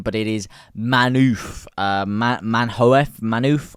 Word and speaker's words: Manhoef: And he goes by the name of, I do not want to mispronounce this name, but it is manhoef. Manhoef. I believe you would pronounce that manhoef.